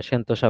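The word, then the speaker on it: Sentosa: তো দেখেন তারপর আসেন ট্রাম্প কিম শীর্ষ বৈঠকটি সিঙ্গাপুরের কোথায় অনুষ্ঠিত হয়েছিল সিঙ্গাপুরের সন্তোষে হয়েছিল এটাতে মানে সন্তোষা বলা আছে সন্তোষ সন্তোষা দুইটা উচ্চারণে করা যায় এটা ওই সময়টাতে গুরুত্বপূর্ণ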